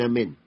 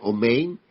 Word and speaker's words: amén: Y se pronuncia amén. No es malo, no, porque mucha gente dice omein y amén y le van cambiando porque oyen a los mesiánicos y empieza el problema.